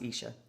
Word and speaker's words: Isha: I think I said Aisha before, and it's not. It's Isha, Isha Foundation in McMinnville, Tennessee, on this yoga retreat.